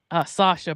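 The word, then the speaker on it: Saoirse: So yeah, it's actually pronounced Sasha, but I think it's like Soirse. Sorsha, right?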